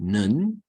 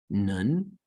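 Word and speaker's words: נון: Now you have, next we have nun, nun, the N as in now. All right, here it is. We see it looks like kaf, but it's narrower, okay? The sidelines in nun are not extended near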